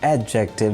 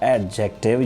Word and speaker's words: adjective: modifier or qualifier so the correct pronunciation is adjective not adjective you will have to delete d here it's going to be silent now we're gonna move to